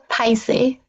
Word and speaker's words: 歹勢: The character is 歹是 but it's pronounced Paise.